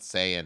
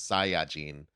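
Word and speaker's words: サイヤ人: some pronunciation like the the Japanese word is not Sayan it's Sai jeene which Jean just means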